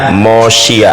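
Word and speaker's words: מושיע: Ya, ain dibacanya mosia.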